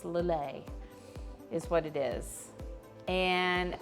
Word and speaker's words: Lillet: say that first word lilay it's spelled l-i-l-l-e-t it is a french word and we're going to be doing a little a a little a spritz some you'll hear some people say lillette spritz but if you're trying